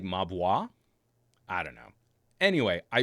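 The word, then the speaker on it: Mobvoi: walt summarist is saying m-o-b-v-o-i is pronounced ma boy but that doesn't make any sense wouldn't it be like mabwa i don't know anyway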